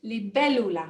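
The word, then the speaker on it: libélula: on it so it's li bellula we put the emphasis on that e the double l sound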